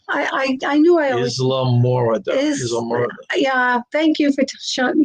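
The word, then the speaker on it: Islamorada: Is that how you pronounce it, Papa Mozo? Isle Morada? I knew I always... Isla Morada.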